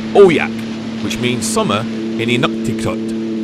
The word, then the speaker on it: AUJAQ: While out on the lake, I googled the pronunciation of the name, and it said it's pronounced aqua. Not trusting this, I did some more research once I got home, then found on another site that the said word is pronounced AUJAQ, which means summer in Inuktitut.